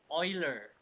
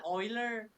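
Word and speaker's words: Euler: I I I is a it stands for Oiler number ever heard about Oiler Max Oiler ever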